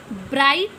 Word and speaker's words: bright: Bright, BRIGHT, तो bright में G silent है.